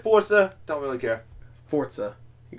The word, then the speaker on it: Forza: Forza. Do this. There's no T in there. You have to do the hand thing like Italians do.